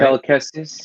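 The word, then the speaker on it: Cal Kestis: Kel Kestis, yeah.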